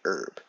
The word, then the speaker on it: herb: Many dictionaries do say herb, U-R-B.